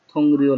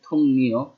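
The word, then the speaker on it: 동료: আর এটা লেখা আছে থং রিও লেখা, নর্মালি ইয়ং বা চিমের পর রিও আছে, থং রিও লেখা, কিন্তু উচ্চারণ হবে থং নিও।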